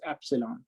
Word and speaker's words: epsilon: as mu and in the denominator it is pronounced as epsilon so eta is given by square root of mu over epsilon so this is true for material one this